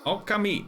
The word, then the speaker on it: Okami: Okami. That's how you pronounce it. I knew it. I was doing it wrong.